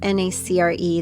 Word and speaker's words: nacre: And that is a lot like we were talking about with the pearly iridescence of that nacre, it's spelled N-A-C-R-E, that nacre or the nacreous layer, which is an organic, inorganic composite biomaterial.